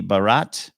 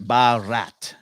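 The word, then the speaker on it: Bharat: that's your King's card BH a r a t but pronounced maybe Barat that's your okay I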